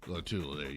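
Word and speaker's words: Lotulelei: Star Latulele. Latulele, yeah.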